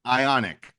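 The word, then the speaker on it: Ioniq: the make what's the model the right it's ionic ionic like ion ionic okay I and and and so I've been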